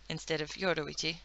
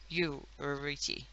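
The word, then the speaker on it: Yoruichi: Also, Yoroichi in this is spelled Y-O-U-R-U-I-C-H-I. So, Yoroichi. Yoroichi. You, like you.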